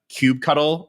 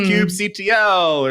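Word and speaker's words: kubectl: like the same thing with like uh Cube cuddle and how some people are like it's Cube CTL it's Cube control and Cube actl yeah there's all all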